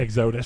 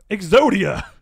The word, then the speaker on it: Exodus: Exodus. So Exodia. It is Exodus. Exodus.